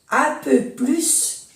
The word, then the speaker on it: plus: Por ejemplo, 4 plus 2 font 6. 4 plus 2 font 6. Aquí se pronuncia la S.